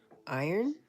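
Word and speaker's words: Irn-Bru: It's pronounced iron. What? What? Oh, was there an R in there?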